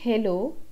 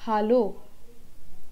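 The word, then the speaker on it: Hallo: that is hello right so in German a is pronounced as ah that is Hindi's arm so the word hello it's not hello it's hollow there in you get the pronunciation of a as that of a hollow the second word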